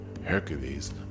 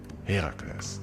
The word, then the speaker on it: Heracles: it is important to not call him Hercules, but Heracles. Well, to be precise, it's Heracles and Hera is Hera, but, you know, let's keep it simple with the pronunciations and call them Hera and Heracles.